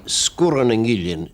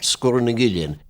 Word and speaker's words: Sgurr Nan Gillean: We pronounce it in Skye, Sgurr Nan Gillean. Sgurr has a long U normally, but when you put in the glide vowel between the two consonants after it, it becomes short, Sgurr Nan Gillean.